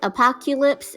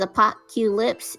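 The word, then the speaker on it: Apopcutelips: It says Apocalypse. It's spelled A-P-O-P-E. No, not E. No E. It's spelled like how it sounds. So A, pop, cute, and lips.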